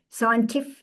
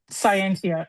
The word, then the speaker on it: Scientia: Megan is a scientific Scientia. It's okay. Yes, Scientia.